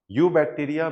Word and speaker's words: Eubacteria: यू बैक्टीरिया में जो शब्द है यू, इसमें ई साइलेंट है, इसको यू नहीं बोलेंगे, यू बोलेंगे।